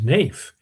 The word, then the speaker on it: Naif: My name is My name is Naif. Pronounced like the word knife.